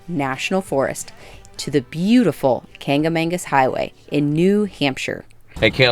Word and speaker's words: Kancamagus: the White Mountain National Forest to the beautiful Kancamagus Highway in New Hampshire. Hey, Caleb, are you ready to go on this drive? We're going to hit the Kancamagus. pass. Oh, the Kancamagus.